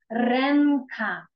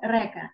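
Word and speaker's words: ręka: Ренка. Ренка. Рука у нас буде ренка. Щоб не було, що ви читаєте река. Ні.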